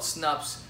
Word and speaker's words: Snupps: of thing okay so the app is called s and upp s that's how you spell it it's called snupps I highly recommend you guys